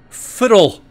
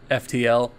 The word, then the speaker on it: FTL: My Skirm here, and welcome to Let's Play Fiddle. I guess it's actually pronounced FTL, and it actually stands for Faster Than Light.